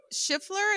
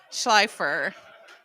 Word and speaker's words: Schleifer: Schiffler, is that how you say it? Oh, Schleifer. Thank you.